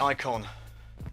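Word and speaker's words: Eikon: to uh ebay and search for icon it's spelled e-i-k-o-n let me get the box for you it's made by pro l all right so it's the icon e i k o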